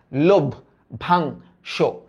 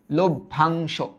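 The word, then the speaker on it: লভ্যাংশ: আর এই জফলার কারণে আদ্য স্বরের পরিবর্তন হয়ে এটা লো হয়ে যাবে। লো হয়ে যাবে। এই অনুস্বার এটা চেঞ্জ হয়ে উ) হয়ে যাবে। তাহলে এটার উচ্চারিত রূপটা কি হবে? লোভ ভাং সো।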